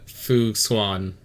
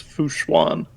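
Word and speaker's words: Fu Xuan: The last one is Fushuan. Fu Swan. Like swan with an H. Schwan. Schwan. Schwan.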